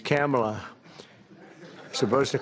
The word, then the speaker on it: Kamala: first name that we have, but fortunately it's pronounced different. It's Kamala. As opposed to Kamala.